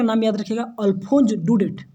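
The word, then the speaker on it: Daudet: ठीक, तो राइटर का नाम याद रखिएगा, अल्फोंस डुडेट। डाउडेट नहीं पढ़िएगा, इसका प्रोनाउंसिएशन क्या होता है, डुडेट।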